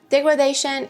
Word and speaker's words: degradation: Degradation is the process by which something changes to a worse condition. Pay attention to the pronunciation. This is degradation, but the verb would be to degrade something. Degrade, degradation.